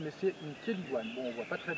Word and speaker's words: chélidoine: Euh alors aujourd'hui, on va parler de cette plante qui s'appelle une keliguan les amis. Elle s'écritane mais c'est une keliguane.